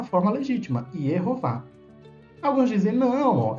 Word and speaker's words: Yehová: Então, se fosse para fazer a forma de mistura do nome divino com as vogais de Adonai, A ou A, a pronúncia seria Yahová. Yahová. Seria essa a mistura, a forma híbrida. Todavia, o nome divino é encontrado na maioria das vezes nos manuscritos como Yehová.